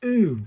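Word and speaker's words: う: I must remember that that is oo as in zoo.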